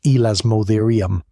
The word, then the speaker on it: Elasmotherium: Cave lions bigger than any lion alive today, cave bears, Elasmotherium, pronounced Elasmotherium, a rhino heavier than a loaded F-150 with a skull dome that almost certainly carried one enormous horn.